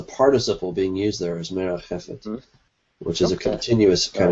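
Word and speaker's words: מְרַחֶפֶת: And moved is, see if I can pronounce this, rakhath. I'm not sure if I did that correct, Doug, but you can correct me if I'm wrong. I didn't. Okay. Merachefet is how you say that.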